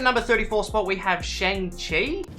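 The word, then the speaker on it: Shang-Chi: coming in at number 34 spot we have shang chi it's shanxi okay so that's how you pronounce it so this is actually like the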